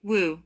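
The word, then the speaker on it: 無: The master answered, "Wu, no." This single word wu, besides being a mantra that is pronounced as a W like imitating the sound of a hurricane, is also a koan itself.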